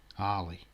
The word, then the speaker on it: Harley: saying the name right is it harley or hayley harley it's harley isn't it sorry if i butchered